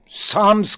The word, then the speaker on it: psalm: हाँ, ओल्ड टेस्टामेंट्स में साम्स के नाम से PSALM, यहाँ P साइलेंट है, इसको साम्स कहते हैं।